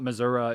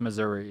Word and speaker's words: Missouri: they they will say it's not Missoura it's Missouri they're very they're trying to